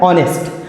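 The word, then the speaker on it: honest: पर क्या आया है ऑनेस्ट ऑनेस्ट जो कि इसमें एच साइलेंट है और इसका उच्चारण जो है आ से हो रहा है और आ क्या होता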